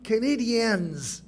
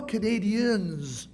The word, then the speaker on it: Canadiens: Remarquez bien qu'il est toujours écrit et prononcé en anglais comme « Canadiens », pas « Canadians », n'est-ce pas?